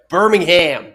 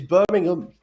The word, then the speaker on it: Birmingham: But either way, you've been saying like Birmingham, you know, you've been doing this like real twang and it it it's been getting to me. It's Birmingham.